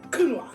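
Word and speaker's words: Counoise: on how to pronounce a word that looks like coin kunoa super good but that's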